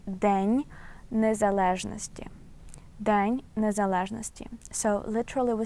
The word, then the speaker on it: День незалежності: And this phrase Independence Day we pronounce as День незалежності.